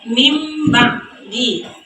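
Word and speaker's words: مِنْ بَعْدِ: Contohnya pada bacaan min ba'di. Jadi cara membacanya mim ba'di. Karena nun mati atau tanwin tersebut diubah menjadi bunyi huruf mim.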